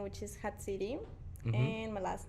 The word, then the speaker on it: Jatziri: So it's a name from Mexico, so and I pronounce it on Spanish, Mm-hmm.